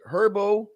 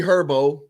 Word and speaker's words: Herbo: No, he's saying is it pronounced herbs Airbo or herbs? Yeah. You know what? That is herbs, a good question. Like Urban Meyer. I like this. No, it's not. It's like herbs as in herbs.